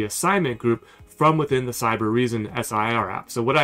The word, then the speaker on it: Cybereason: to pronounce this because it really says cyber Eason but what I noticed in the video is everybody's saying cyber reason so there's actually an extra R in there when you pronounce it but this is an